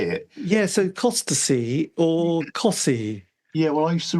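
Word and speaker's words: Costessey: yes um yeah I used to record up nessi is that is that I said that right near Norwich yeah c t eou s e y oh oh Cy was that how you say it yes so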